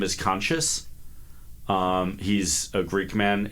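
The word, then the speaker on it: Conchis: um his name is conscious um he's a greekman it's spelled c n c i s but like obviously supposed to be pronounced conscious and is going to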